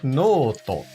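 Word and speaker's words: ノート: Perceba que há um traço entre o no e to, que indica o prolongamento do no, tornando-se noto.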